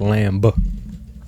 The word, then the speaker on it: lamb: I think it's pronounced lamb. That's what it would be if you actually used the B, but we don't.